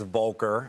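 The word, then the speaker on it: Volcker: proposed first and foremost thank you for the pronunciation correction it's vulker uh made a little mistake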